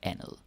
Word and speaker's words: andet: about the pronunciation, because it is spelled andet, but most of the time in real life we say it like andet. Et andet bord. Yeah, like a softie basically.